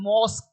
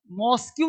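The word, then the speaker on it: mosque: quest ठीक है झगड़ना जब किसी वर्ड में क्यू यू ई हो ध्यान देना क्यू यू ई हो तो इसका उच्चारण साधारणत का होता है का जैसे देखो आप क्यू यू ई है ना क्यू ई इसको बोलते है मॉस्क मॉस्क्यू नहीं मॉस्क का इसका क्यू यू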